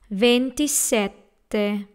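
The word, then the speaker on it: ventisette: a venti set there notice the double T in there so you have to pronounce the letter T in set and that's venti set there and then in the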